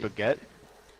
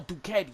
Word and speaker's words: Duquette: You say Mr. Baguette? Mr. Duquette. Duquette. It's more Duquette, but Oh, you know, I pronounce it Duquette.